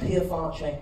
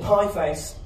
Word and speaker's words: Pie Face: It's called Pierfanche. Wonderful restaurant, Pierfanche. I said to my friend, do you want to go eat in Pierfanche? He said, you're pronouncing it wrong. It's called Pie Face.